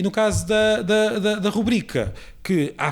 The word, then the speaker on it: rubrica: E no caso da rubrica, que há falantes que dizem rúbrica e outros que dizem rubrica, o que está nos livros e o que é parte do padrão é a rubrica, sem acento, ou seja, com a sílaba tónica na segunda sílaba.